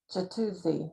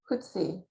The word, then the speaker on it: Jutzzi: It's like the J is like an H, right? Like Jutzzi, no, the Jutzzi, J, Jutzzi, U, but it's like, okay. I was J. saying it like 3 syllables too, so that's wrong too. So I Right? said it like Jatuzi, like 3 syllable. You say Yeah. it Hutzi.